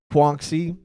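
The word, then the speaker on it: Quanxi: young kishibe right here puanxi is how you say her name i mean it's such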